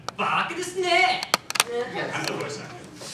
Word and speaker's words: Baka Desnay: To give the proper pronunciation, Baka Desnay!